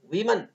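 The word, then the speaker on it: women: जैसे man irregular कहते हैं, अनियमित, मैन मैन, वुमन वीमन, इसको ध्यान रखिएगा, वुमन वीमन, इसको वीमन कहते हैं, इसका pronunciation W ओ एम ई एन वीमन है।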